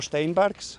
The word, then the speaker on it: Steinbergs: Steinbergs from skeleton team Latvia. Can you spell it? Sorry? Can you spell it? Can you spell it? Uh it's a it's German name, so it's Steinberg.